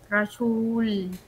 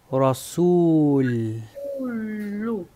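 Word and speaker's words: رسول: car Okay es r Esta es una su rasul Cómo se pronuncia s u su Ahí está rasul rasul muy bien rasul ahí se escucha muy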